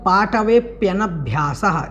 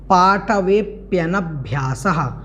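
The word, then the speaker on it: पाटवेऽप्यनभ्यासः: उसके बाद पाटवेप्यनभ्यासः, इसको एक दो बार बोलेंगे तो आपका अभ्यास आ जाएगा। पाटवेप्यनभ्यासः, पाटवेप्यनभ्यासः, पाटवेप्यनभ्यासः, इस प्रकार से इसका उच्चारण करना है।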